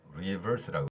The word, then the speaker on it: reverse: R 발음이 빠꾸가 아니고 reverse라고 그랬습니다. 그런데 우리말에서는 그 버스하고 머스가 구별이 안 되죠. 이게 왜 그러냐면은 우리말의 그 비읍은 영어의 me를 이야기하기도 하고 vi를 이야기하기도 합니다.